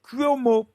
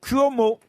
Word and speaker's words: Cuomo: Si ça s'écrit C-U-O-M-O, il prononce bien.